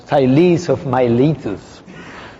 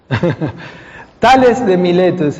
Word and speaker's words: Thales of Miletus: It's something like Thales of Miletus. Okay? This was a mathematician in minus 16. So it's Tales de Miletus in Spanish or other languages.